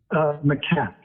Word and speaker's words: macaque: Because there are different pronunciations. Macaque.